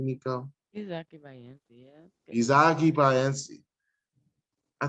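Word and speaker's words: Isaque Bahiense: Am I pronouncing that correctly, Nico? Izaki Bayensi, yeah.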